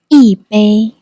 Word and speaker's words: 一杯: The number is usually pronounced with the first tone. 一 However, in Yibei Zhenju Nei Cha, I pronounce it with the fourth tone. 一 This is due to a Chinese tone, santi, tone change rule. When 一 followed by another first tone syllable, like 杯 its tone changes from the first tone to the fourth tone, becoming 一杯 The reason is simple.